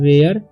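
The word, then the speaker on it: where: पढ़ेंगे हम hunters okay यहां पर ई आर ई जब भी किसी वर्ड के लास्ट में आता है ठीक है तो यहां पर इसका उच्चारण हो जाता है ए ठीक है तो इसे पढ़ेंगे हम डब्लू से होता है व एय तो वे य ठीक है आर से र तो वेयर ठीक है तो वेयर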